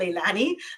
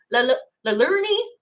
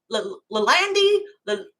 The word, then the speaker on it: Leilani: You know, growing up in Barbados, everyone was like, "What's your name? Leilani, Lalandi." You know, I was just getting all of this.